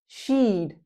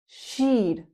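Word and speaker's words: she'd: She would sheed. sheed like peed or the verb need.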